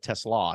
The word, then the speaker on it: TeSlaa: the season goes on, is Isaac TeSlaa, is how you say his name. Not Tesla, but TeSlaa. He's got 2 A's.